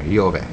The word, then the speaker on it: Jehovah: is he who is it's the right way to pronounce jehovah yover so it just means